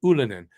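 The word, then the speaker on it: Ylönen: Ulinen.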